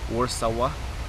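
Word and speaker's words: Warszawa: Pronounced Warsawa locally.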